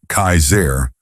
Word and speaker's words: Kassar: One man in particular, who called himself Kassar, pronounced Kaiser, was especially dangerous.